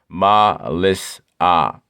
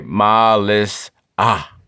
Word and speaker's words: Mellissa: Pronunciation. Ma-lis-ah. Mother Nature severed the soul from breath. This is what the code means in the cipher. Okay? Ma-lis-ah.